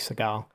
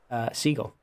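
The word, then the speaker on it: Sagal: Now I'm pronouncing it like Segal. Siegel. Kathy Siegel.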